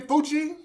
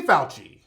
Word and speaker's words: Fauci: see Anthony Buchi both how do you hide pronounce his name Buchi Falchi Anthony Fauci that's his name now this is the guy